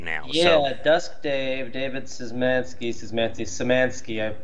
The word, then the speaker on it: Szymanski: Yeah, Dusk Dave, David Szymanski. You don't pronounce the Z in Poland.